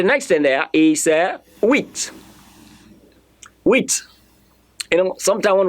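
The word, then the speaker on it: huit: I spelled okay and the pronunciation of that word in French is wheat that is pronounced wheat let me say wheat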